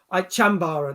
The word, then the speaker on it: chambara: sword fighting jazz thing which i can't even pronounce the name yeah fencing they jump up that's it jambara is it chambora sambara chambara there you go i would have called it